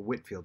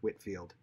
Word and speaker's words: Whitefield: George Whitefield, or Whitfield, some people pronounce it George Whitfield, was perhaps the most powerful voice in England.